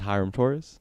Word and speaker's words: Hiram Torres: My name is Hyram Torres.